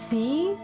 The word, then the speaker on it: Fi: to pronounce it as Fi. Because usually in Japanese language, they pronounce the I's as E's. It's pronounced E. So like she, ni, and then just the I itself is E.